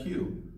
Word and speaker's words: queue: Q like the letter Q or phonetically kyo ho q it's once it's a one syllable word wow this is a